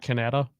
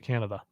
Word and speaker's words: Canada: Is it pronounced Canada? I didn't know that. Matt Canada, or is it Canada? Oh, it's Canada. My bad. Okay. No, that's I didn't know. I had never heard it Yeah, pronounced that way.